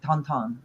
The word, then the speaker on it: Tintin: It's called Tintin in American or English, but he pronounces in French like Tonton. That's how you say it.